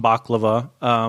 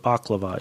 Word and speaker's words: baklava: have said baklava and I would love some baklava but that is not what that is actually Turkish food right Turkish or Greek a hundred a yummy yummy dessert yes so that is definitely what baklava is so is the thing that gsg-9 and